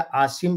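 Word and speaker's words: عاصم: असीम मुनीर जो है असीम कहे या आसिम कहे ये दो तरह से उच्चारण किया जाता है आसिम मुनीर तो ये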